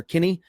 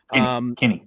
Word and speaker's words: Kinney: is pretty big because GJ Kine, I believe is how you pronounce that, or Kinney. Kinney. Yeah.